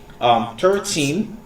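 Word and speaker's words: thirteen: That's why you need to stress out on the last syllable, on the teen, and you need to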